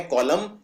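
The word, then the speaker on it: column: है जिसको बोलते हैं कॉलम कॉलम के अंदर भी आखिर में एन आता है और इस एन का उच्चारण नहीं किया जाता है तो ये है कॉलम और है ऑटम तो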